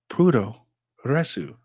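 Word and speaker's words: puroresu: I repeat it is prudhoe ressu it is the predominant style of professional wrestling that is developed in Japan the term comes from the Japanese pronunciation of professional wrestling which is shortened to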